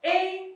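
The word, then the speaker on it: へ: Hai, minasan, pola kalimat yang pertama, ichiban, tempat E, ikimasu, atau kimasu, atau kaerimasu. Nah, minasan bisa lihat di sini ada satu partikel ditulis menggunakan hiragana he, namun dibacanya adalah e.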